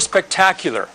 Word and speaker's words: spectacular: pronounce the word spectacular a lot of people make mistakes because they want to put an eight sound before this sound is spectacular es un problema que